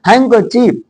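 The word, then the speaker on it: handkerchief: पर ध्यान से समझना यहां पर डी साइलेंट रहेगा और यहां आर भी नहीं बोला जाएगा हैक ची का रा जो है बिल्कुल ना के बराबर ना कि बराबर बोला जाता है जैसे हैंकर चीफ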